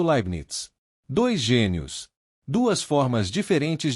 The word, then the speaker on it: Leibniz: Os nomes por trás dessa história são Isaac Newton e Gotfried Wilhelm Libinitis, pronunciado Libnits.